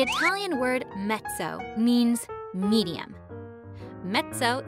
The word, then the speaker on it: mezzo: word mezzo means medium mezzo is spelled with two z's but the first one sounds like a t just like it does in the word pizza mezzo piano means medium soft